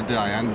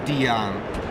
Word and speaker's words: Dyane: Oh, well, that's an interesting starting point, because the UK version is to call it the Dyane, but a French person would call it a Dyane, which is probably a bit closer to what is correct.